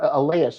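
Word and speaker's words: Elías: in his six starts or elias i should say is how he pronounces his name so he's pitched pretty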